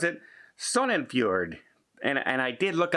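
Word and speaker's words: Sognefjord: has run aground in the i'm going to pronounce it sonnenfjord and and i did look up the pronunciation sun and fjord because i was going to watch that completely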